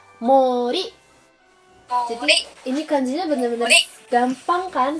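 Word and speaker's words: 森: banyak yang cantik gak jadi hutan besar dibaca Mori ini kondisinya bener-bener gampang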